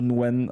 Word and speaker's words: Nguyen: one player play to Nguyen probably and playing play tune when like it's basically I think the pronunciation is is some some close to nuwen or when even uh it's definitely I